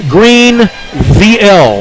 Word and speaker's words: Greenville: What they want you to do is say it like Green VL, like no vowels. Greenville.